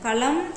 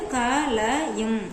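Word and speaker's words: कलम: ம் அப்படின்னு படிக்கணும் சோ இது வந்து க ல ம் அப்படின்னு நம்ம படிக்கணும் படிக்கிறோம்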